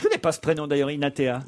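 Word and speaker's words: Hinathea: Je connais pas ce prénom d'ailleurs, Inatea. Inatea. Ça s'écrit H-I-N-A-T-H-E-A.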